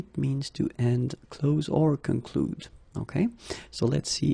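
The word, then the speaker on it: concluent: Concluez, and then here, conclu. Okay, keep in mind that even if you put this final ENT, so the ending, you don't pronounce it. So phonetically you get conclu.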